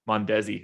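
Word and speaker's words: Mondesi: perez will be pretty heavily owned i think monday will also mondezi i should say it like that old school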